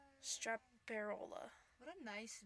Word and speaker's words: Straparola: Strapola. I'm just pronouncing it like it's read. Straparola.